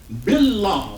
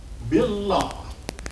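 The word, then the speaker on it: بالله: Billah. So that long word then goes like this. Bill. And then the next syllable is what? Law. Billah.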